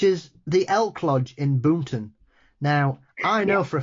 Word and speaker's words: Boonton: Jersey accent, which is the Elk Lodge in Boonton. Now, I know for a fact that's not how you guys pronounce it.